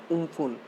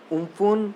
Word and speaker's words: Amphan: Pronounced as Umphun means sky. Must remember Amphan Umphun means sky and it is given by Thailand in 2004.